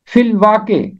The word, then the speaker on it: فی الواقع: آیت میں فی الواقع۔ اس کا تلفظ فی الواقعہ نہیں ہے، اس کا تلفظ ہے فی الواقع۔ فی الواقع کا مطلب